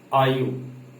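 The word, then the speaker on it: are: English में आर नहीं पढ़ेंगे, ये आर जो है हम साइलेंट करेंगे, उसको थोड़ा सा फास्टली पढ़ेंगे। क्या? आयु।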